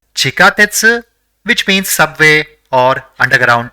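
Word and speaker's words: ちかてつ: see the fifth word the first character in the word is chi the second is Ka the third is TE and the fourth is SU so it will be pronounced as chikatetsu which means Subway or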